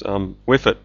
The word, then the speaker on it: WHFIT: It's WIFIT.